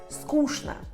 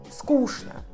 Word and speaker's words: скучно: A O e O são reduzidos até A, porque a sílaba tônica é nhé. E tchn, aqui essa exceção, se lê como shn.